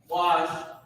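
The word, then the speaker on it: בקש: Bakwash is how you pronounce it, Ba, and then Kwa and Sha are connected.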